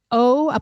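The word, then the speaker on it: O'Dea: He's actually James O.D. It's O''DEA, and I've listened to his talks, and he pronounces it James O.D., and he's from Ireland.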